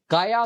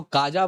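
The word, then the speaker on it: Kaja: Affairs and security policy काया class. जी हां दोस्तों अगर आप देखें तो काजा मत बोलिएगा। इट्स काया जे इज साइलेंट।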